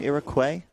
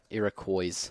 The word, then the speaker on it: Iroquois: the ear acquired was the American pronunciation Iroquois Iroquois Iroquois so what about the